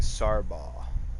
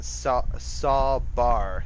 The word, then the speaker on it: Sawbar: I got this fucking Sarba. I mean, what is Sarba? Why did I say it like that? Sawbar. There. That's it. Sawbar.